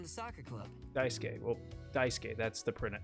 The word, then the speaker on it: Daisuke: and I'm on the soccer club Daisuke well Daisuke that's the printer correct pronunciation oh I see so that's how he